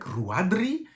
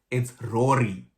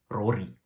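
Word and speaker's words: Ruaidhrí: I was like, Ruaidhri? Like, what do you say? But apparently it's Rory, which means a great king for boys. Rory. So you can pronounce it as Rory, like, Rureee, Rory, which is a very cool name.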